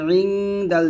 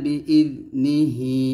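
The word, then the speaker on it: بِإِذْنِهِ: বি ইযনিহি ইযনি এরকম আমরা এখানে অনেকে বলি ইদে ইদে বলি এই জালটা কলকলা করি এরকম কলকলা করা যাবে না বি ইযনিহি এরকম ভাবে পড়তে হবে একসাথে মান যাল্লাযী ইয়াশফাউ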